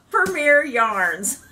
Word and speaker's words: Premier: I had to emphasize premiere yarns. It's spelled P-R-E-M-I-E-R.